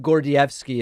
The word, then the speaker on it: Gordievsky: Yes, Oleg Gordievsky is my anglicized pronunciation of the gentleman's name.